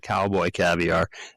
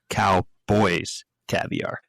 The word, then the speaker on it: Cowboys Caviar: We were pronouncing their name wrong. We were calling it Cowboy Caviar and it's Cowboys Caviar. Yeah, there's an S in there.